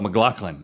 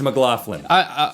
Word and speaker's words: McLaughlin: I just call myself McLaughlin. I mispronounced my own last name because I'm thinking of myself as a writer. It's McLaughlin. What I'm really trying to